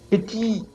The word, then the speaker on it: petit: Petit, petite. Okay, T, we don't pronounce the T, but now because of this E here, which is now a feminine one, it's going to be petit, petite.